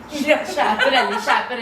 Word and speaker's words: Schiaparelli: S is silent. No, Schiaparelli, right? Chaparelli.